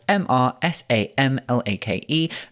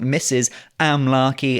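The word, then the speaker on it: Mr Sam Lake: Sam Lake, spelt MrSamlake. Mr. Sam Lake, not Mrs. Amlarkey, as some people think that it is pronounced.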